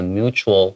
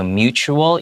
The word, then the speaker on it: mutual: 老师有一个共同的朋友，we have a mutual friend，、就是这个 mutual 就是相互的，有认识同样的人等等。这个字的话很好用，mutual respect 就是互相尊重，他会鼓励大家互相尊重。 Yeah, so mutual, even though it has a T, it's kind of the T is kind of pronounced like a CH sound.